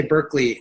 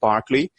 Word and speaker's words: Berkeley: I always want to say Berkeley, but it's pronounced Berkeley.